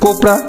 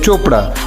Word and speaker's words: Chopra: তখন আপনি বলবেন কোপরা, তখনই বলা হবে ভুল, কারণ CHOPRA এর উচ্চারণ হবে চোপড়া, অর্থাৎ এখানে CH হয়ে গেল চ।